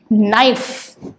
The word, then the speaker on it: knife: Now, knife, N, I, F. That's the only sounds we are hearing. So, we have to focus on what we are hearing. So, N, I, and F. That's it. Neither we are hearing K, nor we are hearing any sound for E.